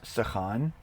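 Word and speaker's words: סכן: Okay, so the verb there is sechan. And as you saw here, it is spelled samech, kaf, nun, sechan.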